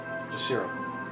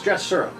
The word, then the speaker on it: Jatasura: Yeah, Jasiro. Is that a familiar name? Maybe I'm pronouncing it wrong. Yes, it's the Rakshasa. Jatasura. It's Jatasura.